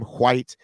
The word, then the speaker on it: Heather White: and that is how you say her name, White.